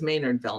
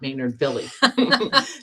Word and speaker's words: Maynardville: Somebody told me it was Maynardville, not Maynard Billy.